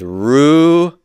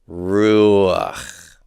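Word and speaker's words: רוּחַ: Some of the words you've learned, the word for spirit is ruach, and that's a chet, long vowel before, it gets a furtive patah. Ruach, ruach. Remember, the furtive patah is always pronounced right before the guttural.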